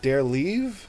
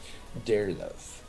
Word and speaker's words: Derlove: So was it Derleave or Deerlove? Derlove.